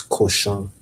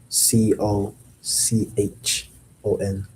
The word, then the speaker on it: cochon: That is cochon, le cochon. Spelled c o c h o n, le cochon. It's really It kind of sounds like cauchemar.